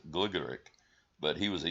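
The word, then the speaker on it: Gligorić: a young man Sedar some people say goric I think is the English pronunciation I think the correct pronunciation of his name is gligoric but but he was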